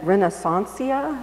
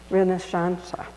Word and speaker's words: Renaissance: And his recent book include not just Asia, but Building Barcelona, a Second Renaissancia, is that? Renaissance. And Renaissance, yeah, thank you for the pronunciation.